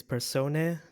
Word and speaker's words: Persona: Yeah, I guess the way that we will pronounce it is persone.